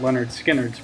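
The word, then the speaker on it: Lynyrd Skynyrd: an awesome band then in 1973 you had Leonard skinnard pronounced that had almost all of Leonard Skinner's biggest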